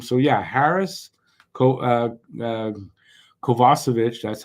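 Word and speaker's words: Kovacevic: so much room so yeah Harris co uh kovasovic that's how it's supposed to be pronounced um they could they could go at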